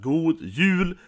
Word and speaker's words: God Jul: Or as we say it right, God Jul. So that is jul with that yay guys. Now with the whole jule thing, it's not fake right? The real saying is God Jul, okay?